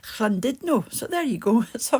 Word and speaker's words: Llandudno: I used to call it Llandudno, you know, the place where where it was Llandudno. It turns out it's actually Llandudno.